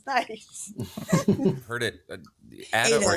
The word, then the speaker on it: Ada: It's only Ada when I'm in Europe because Italians will never, ever stop pronouncing it the Italian way. But it's Ada when I'm in the US because that's what my parents do.